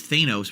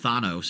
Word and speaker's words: Thanos: in fact that I thought his name was Thanos apparently it's pronounced Thanos and now we all know that but we